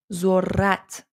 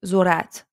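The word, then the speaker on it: ذرّت: Do you hear how I pronounced Re sound? I don't say Zorat, Zorat. No, that's not correct. That's a bit, that sounds so strange and weird if you say like that.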